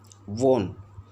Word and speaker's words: one: A is used before a compound word that begins with the word one, because the word one is pronounced as won.